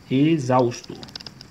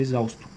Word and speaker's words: exausto: Vamos colocar outra estrutura. Exausto. Por exemplo, a palavra exausto. Observe que é a mesma estrutura.